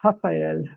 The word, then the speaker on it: Rafa: I did not know that in Portuguese that's how you pronounce it. Yeah, what I normally say to people is just think about happy Rafa, because in Portuguese, the R at the beginning of the word sounds like the H at the beginning of the word in English.